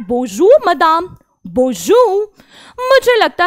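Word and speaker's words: bonjour: बोजू, बोजू का मतलब क्या होता है, बो जू, जू, ना ज ना ज, बो जू। मेरे लिखने से ज्यादा मेरे बोलने पर ध्यान दीजिए।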